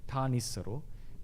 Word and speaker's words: Thanissaro: Venerable is called Thanissaro. It will be normally pronounced as Thanissaro.